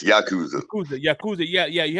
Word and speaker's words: Yakuza: you um to get in there you had Yakuza I'm sorry I mispronounced it it's Yakuza Yakuza Yakuza yeah yeah you had to chop